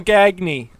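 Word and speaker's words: Gagné: Gagne. Yeah, we would have like and Michael Gagne.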